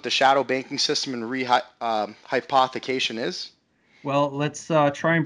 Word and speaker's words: rehypothecation: It's called Shadow rehypothecation. And was that the correct pronunciation, Matt? Shadow Yeah, rehypothecation.